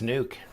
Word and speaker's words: NUK: I was going to go knock, knock, knock, but it's not nuck, it's nuke. Yeah, it is the nuke.